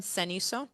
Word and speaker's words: cenizo: cenizo.